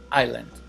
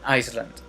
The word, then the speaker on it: island: vacations i want a rural house on an island now i will pronounce it if you oh sorry i will